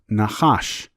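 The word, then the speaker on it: נחש: Let us take a look at the word serpent in Hebrew, pronounced Nachash, and what it means in Gematria.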